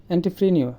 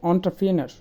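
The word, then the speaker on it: entrepreneur: আমরা বলি এন্টারপ্রেনিউর, এটা হচ্ছে এন্টারপ্রেনার।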